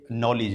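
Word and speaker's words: knowledge: जाता है ठीक है जैसे नॉलेज है तो यहां के साइलेंट है साइलेंट वाले सब लोगों को हमें टारगेट करना है नौ लीजिए ना कैसे चालू होती है ठीक है लेकिन हम बोलते हैं नॉलेज नॉलेज तो इस हिसाब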